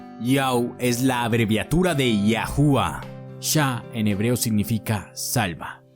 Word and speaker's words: Yahuwah: En hebreo moderno se escribe Yod, Ay, Uau, Ay, y se pronuncia como Yahuwah.